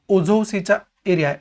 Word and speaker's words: Azov: आणि त्या ब्लॅक सीच्या म्हणजे क्रिमियाच्या साऊथला, दक्षिणेला ब्लॅक सी आहे आणि उत्तरेला, उत्तर पूर्वेला जो आहे तो ओझोव सीचा एरिया आहे, अझोव सी ज्याला आपण म्हणतो, तो अझोव सीचा एरिया जो आहे तो सुद्धा आपण बघून ठेवायला पाहिजे.